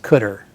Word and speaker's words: cdr: is pronounced car and cdr is just colloquially always pronounced cutter and these are really